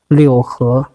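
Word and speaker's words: 六合: So lu he, its pronunciation is liu he. That means universal.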